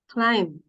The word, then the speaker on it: climb: All right, you say climb. Climb. Walang B, that's climb.